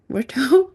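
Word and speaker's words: Ruto: So in terms of Kenya though in 2024 Kenyan President William RTO RTO is that how you say his name?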